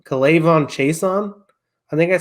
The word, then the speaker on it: K'Lavon Chaisson: K'Lavon Chaisson.